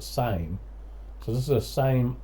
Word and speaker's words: Same: and this is a, I've heard people say Sammy, so I think it's pronounced Sammy. I've always pronounced it Same.